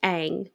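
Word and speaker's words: Aang: once said correctly so it's supposed to be ang not ong not soca yeah okay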